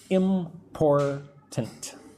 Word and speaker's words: important: Important. But when I say it, it's more like important. The T is soft. The first T.